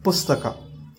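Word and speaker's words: ಪುಸ್ತಕ: If we split it, it is Sta has Sa accent, Ta accent, and both gets S and Th gets combined with A vowel. S and Th gets combined with A. So that became Pusta. And the next letter is Ka, which is very simple. K plus A is Ka. That is Ka. And the end result is Pustaka.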